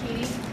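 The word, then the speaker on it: Cady: Her name is Caddyy Haron. It's pronounced Katie.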